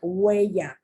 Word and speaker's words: huella: Remember the H is not pronounced, it's huella.